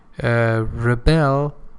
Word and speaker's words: rebel: the time of puberty rebel pay attention to this point rebel second syllable he as a verb and rebel as a